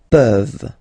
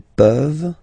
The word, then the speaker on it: peuvent: Je peux, tu peux, il peut, elle peut, nous pouvons, vous pouvez, ils peuvent, elles peuvent. Okay, as usual, this ending, this ENT ending, you write it, you don't pronounce it.